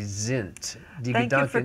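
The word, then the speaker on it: sind: We said Die Gedankensen, S-I-N-D. But in Germany they told me it's supposed to be Sint.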